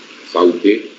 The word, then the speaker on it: Southey: Southey is pronounced also as Southey, Edmund Spenser, Tennyson, Thackeray, Oscar Wilde, William Wordsworth, and finally alphabetically W.B.